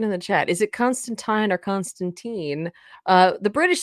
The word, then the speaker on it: Constantine: an effort to say Constantine, because they're not especially- just saying it's about the pronunciation. yeah, Like Alan Moore says, regardless of accent, it's Constantine.